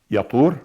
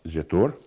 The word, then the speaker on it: Jetur: And then the third one was Abed-El, and Mibsam, and Mishma, and Duma, and Massa, Haddad in English, Taima, Yatur, which in English we pronounce Jetur, Nafish, and Qidma.